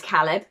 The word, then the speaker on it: Caleb: Sorry, the first Caleb I ever knew is Caleb, because it's an Italian name and that's how they pronounce it. So I always default to Caleb, even though it's Caleb in English.